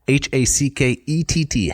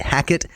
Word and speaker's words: Hackett: Hackett. Hackett. It rhymes with jacket, for example. Yeah. But not with racket. It does rhyme with racket. Oh, I'm sorry. It rhymes with racket as well.